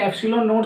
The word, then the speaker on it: ε0: इसको जो हम बोलेंगे, इसको जो हम प्रोनाउंस करेंगे वो करेंगे एप्सिलॉन नॉट।